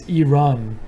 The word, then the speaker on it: Iran: It's Iran, like an electronic run, Iran." Oh, well, I say Iran, so I'm sorry.